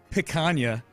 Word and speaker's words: picanha: Picanha. You pronounced picanha right for sure.